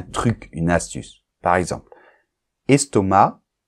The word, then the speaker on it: estomac: une astuce par exemple estomac on ne prononce pas le C et moi je t'ai